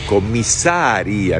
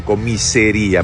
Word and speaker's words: comisaría: Se dice comisaría, no comisería, porque no hay comisarios, hay comisarios.